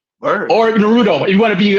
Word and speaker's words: Naruto: What's the pronunciation, Steph? Uchiha. No, not that. Naruto. I haven't really gotten into Naruto. It's Naruto.